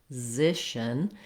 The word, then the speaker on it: physician: So for this word, you would start with the Z sound, Z, zishin, and then just add your first syllable as a light little touch getting to that second syllable.